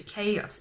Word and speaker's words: chaos: it know when you actually check what the pronunciation is actually chaos it's not caused if you remember when you